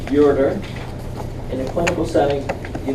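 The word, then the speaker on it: ureter: a pair of ERS remember the word is pronounced urer in a clinical setting you don't ever want to say you reader people may not say anything but they'll think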